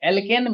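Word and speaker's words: alkene: तो प्यारे बच्चों, जब एल्केन, तो जब इसका उच्चारण करते हैं तो एन आता है अंतिम में, एल्किन, तो उच्चारण करते हैं तो इसमें इन आता है, एल्काइन, और जब इसका उच्चारण करते हैं तो आइन आता है, ठीक है।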